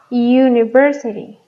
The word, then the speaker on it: university: A diferencia de estas dos, que las pronunciamos uniform, university. ¿Ok? Entonces, mi sonido inicial es consonántico. Uniform. Es como si estuviéramos utilizando una Y. University.